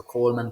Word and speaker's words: Colman: medias it's my name but it's spelled c-o-l-m-a-n so Coleman power organic Fitness on Instagram